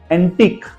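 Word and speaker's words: antique: के दो एग्जांपल देखेंगे एंटिक अब स्पेलिंग देख लीजिए लास्ट वर्ड क्य यू ई है एंटिक यू का प्रोनंसिएशन ही नहीं है वहां पे सेकंड वर्ड इज बुटीक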